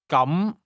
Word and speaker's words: 咁: The difference is that the word for in that case is pronounced with a mid-rising tone, while the word for today has a high level tone.